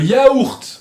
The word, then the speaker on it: yaourt: Le yaourt. Le yaourt. Aquí se pronuncia la T. Le yaourt. Un yaourt. Un yaourt. Sale mejor. Como pronunciando la T mejor.